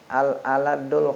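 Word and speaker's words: الألدّ: inna abghadar rijali ilallahi al-aladul khosmi. Manusia yang paling, ya, dimurkai oleh Allah al-aladul khosmi. Apa itu al-aladu? Rahul Nasai wa Tirmizi. Al-alad dibacanya dengan tasdid dal, itu syadidul khusumah, ya, berdebat-debat.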